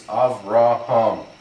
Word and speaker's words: Avraham: The first aleph has a patakh, the resh and the hey have wider kamatz. This is Avraham. That's easy to pronounce.